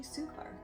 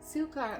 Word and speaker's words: Suchar: I'll get you to stop there because it's actually Suchar. Suchar, Yeah. Oh my god, I'm so embarrassed. I've been saying your name wrong for 5 years, so that's great. Think azúcar in Spanish.